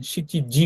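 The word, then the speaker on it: 七時: গাছসু কথাটা বলে অথবা যখন সাতটা বাজে কথাটা বলে তখন সিচিজি কথাটা বলে হ্যা নানাজি কথাটা বলে না তারপর সেপ্টেম্বর মাস যদি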